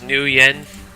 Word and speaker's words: nuyen: system is new or the currency is new Yen as in it's the new Yen but it's spelled n u y n um yeah which